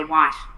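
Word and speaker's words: Wight: That's how you spell it. W I G HT. That's how he spelled his surname. Yeah. White. Wow. I never seen I never seen spelled like that. I probably wouldn't even A lot of people thought that there was an R in there and was saying his name was Sean Wright, but it's not.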